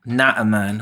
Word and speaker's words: Naaman: Naaman, which is the correct way to say that.